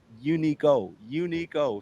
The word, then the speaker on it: Unico: Unico, Uniqo, and it's pronounced Unico. So when I get on Twitch, they just be calling me, and I'm like, what?